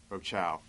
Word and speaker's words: Rochow: Deppen and a Robin, is it Roach? How do you pronounce her last name? Rochow.